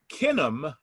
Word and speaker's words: Kinum: their kids but it didn't work so what kinam is the way we pronounce it k-i-n-u-m and kin stands for family